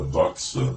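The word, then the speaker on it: δόξα: Quanto a palavra glória pronunciada doxa no original grego, no que se refere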